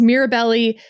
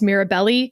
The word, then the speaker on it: Mirabelli: You'll hear it referred to as Mirabbelly and Bont because I couldn't remember quite how to pronounce Mirabelli.